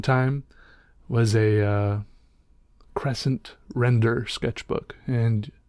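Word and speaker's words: Rendr: for a long time was a uh Crescent render Sketchbook and it's spelled re ndr I bought mine on Amazon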